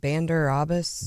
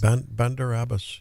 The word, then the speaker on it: Bandar Abbas: to pronounce it Bandar Abbas. Bandar Abbas.